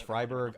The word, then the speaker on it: Freiburg: going i feel like i learned the proper pronunciation early enough whereas freiburg i've been saying this for like five years honestly i have heard some people say freeburg at times but it just sounds too much